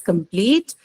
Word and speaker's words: complete: case of adjective also some adjectives are stressed on the last syllable if there is a long vowel sound or diphthong in it the example you have here is complete extreme right usually what is the